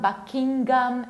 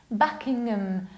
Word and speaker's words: Buckingham: It's not Buckingham, it's Buckingham, like Buckingham Palace. You need to reduce Buckingham, Buckingham, Buckinghamshire.